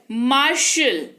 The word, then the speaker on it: martial: फिर है MARTIAL, मार्शल, इसको पढ़ते हैं मार्शल, टी है, लेकिन टी का नामो निशान नहीं दिख रहा है आपको यहाँ पर उच्चारण में तालव्य श उच्चारण हो रहा है।